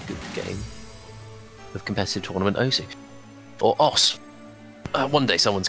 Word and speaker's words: osu!: I feel sad because I feel like it's going to go to OSU before it goes to OS, the proper pronunciation, because there's just so many people that call it OSU at that point.